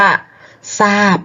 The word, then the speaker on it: ทราบ: โน้ ท โอ้นี่ ค่ะ ทร เปลี่ยน เป็น ซอโซ่ ก็ คือ คำ ว่า ทราบ ค่ะ สอบ อบต ซ่า